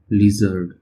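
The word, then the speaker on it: lizard: लिजर्ड, ये जड़ रहता है, इसको ज़ पढ़ते हैं ना, लिजर्ड, ठीक है, जे के नीचे डॉट रहती है, लिजर्ड।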